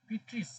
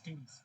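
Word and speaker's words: Pteris: পিট্রিস নাকি টেরিস। টেরিস? টেরিস, হ্যাঁ টেরিস উচ্চারণ।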